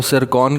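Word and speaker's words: Циркон: अब बेसिकली ये जो ज़िरकॉन हाइपरसोनिक मिसाइल है इसके जो स्पेलिंग्स है वो TSIRKON है, लेकिन आई बिलीव कि इसमें T साइलेंट है, इस वजह से इसको सिरकॉन कहा जाता है और सिरकॉन से ये बन गया है ज़िरकॉन हाइपरसोनिक मिसाइल।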